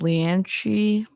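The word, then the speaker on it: Leanansidhe: his godmother Leah and my dad says it's pronounced leanshee but I call her Leah because I can't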